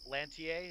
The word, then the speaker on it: Lantier: Is it Private Lantier? Is that how it's pronounced? Yes, sir.